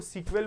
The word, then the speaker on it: SQL: में बोलते हैं मैं इसको सीक्वल बोलूंगा सीक्वल का मतलब होता है एस क्यूएल यानी इसका अगर फुल फॉर्म जानना है तो आपको स्ट्रक्चरर्ड क्वेरी लैंग्वेज क्या है सर?